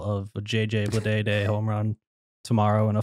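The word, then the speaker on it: Bleday: not hear or see the name JJ Blade with it's like it doesn't sound right like his name is JJ like you're missing a syllable idiot yeah yeah JJ BL day B like they just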